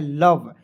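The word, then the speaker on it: love: देखेंगे यहां पे एल ओ वी ई। अब कहिएगा सर एल का ल लिखिएगा। वी का व लिखेंगे और ओ है तो इसको उच्चारण औ के रूप में करेंगे। लव हो जाएगा क्या सर? नहीं। इस तरीके से आपको नहीं पढ़ना है। इसे पढ़ना है लव।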